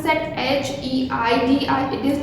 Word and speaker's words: Heidi: So here the spelling of Heidi is H-E-I-D-I. So how you are going to pronounce that H-E-I-D-I? It is not Heidi, it's Heidi. H-E-I is pronounced as high and D-I is pronounced as D.